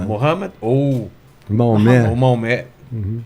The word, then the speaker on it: Mohammed: Mohammed ou Maomé. ou Maomé, Uhum. né? Mohammed. Eu pronunciei certo?